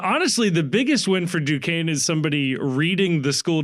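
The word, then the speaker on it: Duquesne: of ball knowledge to not know how to pronounce Dukane right any any college basketball fan is how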